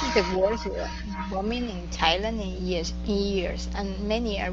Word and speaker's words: Thailand: Maybe Thailand, even though it's spelled TH, but it's Thailand, not Thailand. Right? Yeah, it is Thailand. It's got a hard T at the beginning.